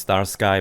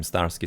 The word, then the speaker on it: StarSky: m m stari or should be pronounced star sky but I always pronounce him stari so I'm going to be probably continue with with that even though it's obviously wrong he going to be